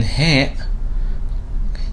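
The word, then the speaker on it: ه: And then he, corresponding to the H or H sound in English, he, he. Notice that it's similar to ha, but since there is difference in pronunciation, these two are different letters, and in the transcription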